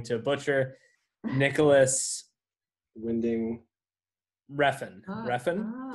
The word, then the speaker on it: Refn: Refn. Am I saying it right? Nicholas Winding Refn. Yes.